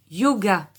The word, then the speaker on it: yoga: Le yoga. Ici, les deux Y vont se prononcer comme la consonne Y.